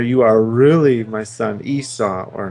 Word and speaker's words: Esau: Jacob said to his father, wait, how do you pronounce his brother's name? Esau.